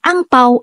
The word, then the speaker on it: angpao: at tinatawag ding hongbao ang salitang angpao ay isang hokian language pronunciation para sa sa Red Pocket ang hongbao naman ay pronunciation para sa Red Pocket na salitang Mandarin at ang lcy naman